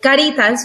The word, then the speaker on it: Caritas: Did I pronounce that right? Yeah, Caritas. You can roll the R.